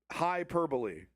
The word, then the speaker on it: hyperbole: I always say it wrong. Hyperbole. You could there's actually you could say it correctly both ways. Hyperbole is the right way of saying it.